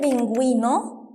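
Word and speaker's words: pingüino: جيتارا ان لا كايي بينجوينو ما نطقت ال او عشان عليها نقطتين برافو وجيتارا الاو صامته ونطقنا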